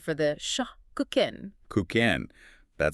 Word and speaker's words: Kuchen: Kind of softer, more like K Oen.